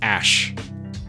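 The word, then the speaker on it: Æ: Apparently the AE is pronounced Ash.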